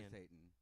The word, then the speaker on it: Microsatan: But it's pronounced Very European. Microsatan.